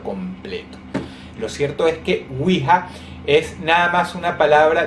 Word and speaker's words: Ouija: Lo cierto es que wiha es nada más una palabra derivada de dos palabras Wi que en francés significa si y Ja Que se pronuncia Ya que en alemán quiere decir también Sí o sea el juego